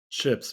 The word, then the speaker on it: CHPS: have Craig Schiller from chps or do we pronounce it chips Craig chips we do we're GNA call it chips that's wonderful Craig is